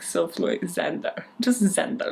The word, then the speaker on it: Xander: He welcomes them, takes the coats off, and this is when his younger brother, Xander, I've never actually pronounced that out loud, Xander, like the short version of Alexander, you know, because rich people don't shorten Alexander to Alex.